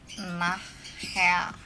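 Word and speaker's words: nachher: Nahya, itu tulisannya nahya nih, gini ya cara bacanya, nahya, tuh cara bacanya.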